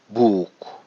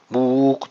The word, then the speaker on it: book: Buradaysa buktaysa 2 o yan yanaysa uzun uur. Book sanki gerçekten uzun uyuymuş gibi. Book buk değil ama iki tane u varmış gibi değil.